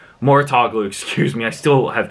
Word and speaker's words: Mouratoglou: matter as well with the helps of Patrick mature oglu Mouratoglou excuse me I still have trouble pronouncing his name with Patrick Mouratoglou at her